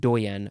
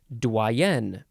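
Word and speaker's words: doyenne: the words Dean and doyen or dwayian next word okay similar word doien you emphasize the second syllable here doyen or Dwayne noun from Circa 1897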